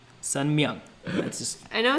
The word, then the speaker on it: Sun Myung: Okay, just first off, there's an M in his middle name. It's Sun Myung Moon. Not Sun Young, Sun Myung.